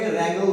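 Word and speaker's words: wrangle: यहाँ पे W word जो है साइलेंट है तो इसको पढ़ेंगे रैंगल विथ।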